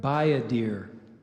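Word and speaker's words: bayadere: m i a n and salmian and salmian is spelled a-n-s-e-l-m-i-a-n by a deer would you repeat the word buy a deer buy a deer what's the definition by a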